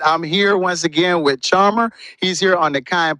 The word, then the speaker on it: Charmherr: I'm Charmherr. You can how you spell that? That's CHARMHERR. It's really, it sounds like Charmherr, but it's really just Charmherr.